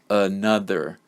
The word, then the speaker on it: another: The next example, another. This word has three syllables, and the first and the third syllable contain the schwa sound. So the middle part of the word is the stressed sound.